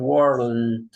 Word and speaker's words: world: Because word and world. No, it's different. There are two similar words, but if you don't pronounce the L, you say word.